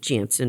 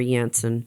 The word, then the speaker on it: Janssen: was moderna and then jansen or janssen whichever way you want to pronounce it the criteria for the